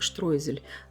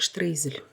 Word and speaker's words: Streusel: В немецкой транскрипции произносится как штройзель, но в русской транскрипции, так как видео идет на русском языке, произносится как штрейзель.